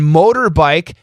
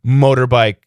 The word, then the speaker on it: motorbike: of three ain't bad and motorbike m o t o r o t o vowel T vowel that gives us a flap te motorbike two out of three